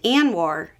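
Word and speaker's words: ANWR: Arctic National Wildlife Refuge often pronounced an war ended not a single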